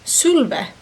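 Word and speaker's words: Sulwe: It's actually pronounced Sulve.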